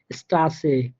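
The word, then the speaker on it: Straße: যেমন স্টাসে, স্টাসে, ফুস, হাইসেন, সবগুলো দেখেন অ্যাসেট কিন্তু স এর মতো করে, মানে হালকা একটু মোটা স এর মতো করে, স্পষ্ট স হবে না কিন্তু।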